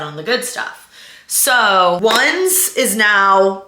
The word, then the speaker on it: Onze: Ones, which really is pronounced like onze in French, is 11 in French, but it's spelled O-N-Z-E. We're pronouncing it ones because in pickleball, when you're